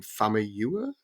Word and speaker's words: Famuyiwa: I always mispronounce his last name, Famuyiwa. Am I saying that right? Okay, I got some nods.